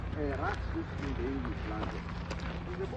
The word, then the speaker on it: Erastus: actually archaeological proof about in the Greek language erastos, which is actually pronounced erastus in the English language.